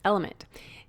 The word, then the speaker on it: LMNT: our sponsors lmnt element it's spelled lmnt but pronounced element if you haven't heard